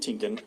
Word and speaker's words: Tienken: After conferring Bishop, both as they sound. Oh, We had Lavone Tinkin, which is spelled Lavone, last name Tienken.